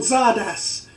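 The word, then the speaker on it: Csárdás: sort of a classical-ish tune called Zardas. It's spelt C-Z-A-D-A-R-S, something like that.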